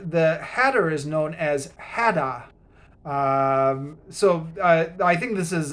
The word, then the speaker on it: Hatter: and then the the hatter is known as hadda so i think this is a pun on